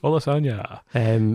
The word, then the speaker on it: Olusanya: Olusanya. Just think, lasagna. That's how you pronounce that.